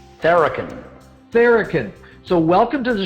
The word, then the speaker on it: Tharakan: how do you say your last name correctly theraken barrican so welcome to the show and thanks